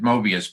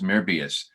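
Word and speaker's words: Möbius: We pronounced it Mobius, but it's really an OE in his name. So it's Mobius.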